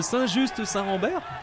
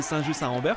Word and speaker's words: Saint-Just-Saint-Rambert: Ah, ils disent Saint-Just-Saint-Rambert ? D'accord, non, c'est Saint-Just-Saint-Rambert qu'on prononce normalement.